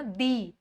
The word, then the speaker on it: the: है, आपको स्वर की आवाज आ रही है, तो उसको बोलना दी, ठीक है, आप उसको बोलोगे दी। और अगर कोई वर्ड है जो कॉन्सोनेंट साउंड से स्टार्ट हो रहा है, तो उसका आप प्रोनाउंसिएशन कैसे करोगे? आप वहां पे जो टी एच ई लिखोगे उसको आप बोलोगे द। तो ये डिफरेंस है द और दी में।